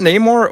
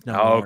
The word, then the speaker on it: Namor: Didn't Namor also have wings though, like in the comics on his feet?